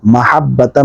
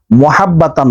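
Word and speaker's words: مَحَبَّةً: আরেকটা বিষয়, ওয়াল কাইতু, কাইতু না, কফ কাফ আলাদা, কফের উপর 2 নক্তা, এটা ওয়াল কাইতু মাহাব্বাতাম, নট মুহাব্বাতাম, মাহাব্বাতাম কি, মাহাব্বাতাম মিন্নি।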